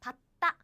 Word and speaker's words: 받다: So what happens is they crashed. They crashed or they met. The same kinds met. they are doubled like this. 받다. So the pronunciation is like this. 봤다, 봤다 is the natural pronunciation.